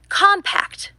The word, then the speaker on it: compact: Compact and compact. Which pronunciation you use depends on how the word functions in a sentence.